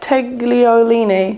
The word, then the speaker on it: tagliolini: Tagliolini.